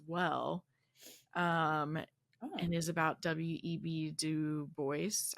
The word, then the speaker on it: Du Bois: Du Bois. I think the S is pronounced for some reason.